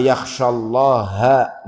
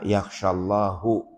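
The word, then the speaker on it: يَخْشَى اللَّهَ: Kemudian di dalam surat Fatir ya, innama yakhsyallaha min ibadihil ulama'u. Ini harus jelas. Bacanya yang jelas, innallaha azizun ghafur. Kalau bacanya lafadz Allah akhirnya itu dibaca dhammah, itu maknanya salah. Jadi misalkan bacanya salah, innama yakhsyallahu, itu di situ Allah,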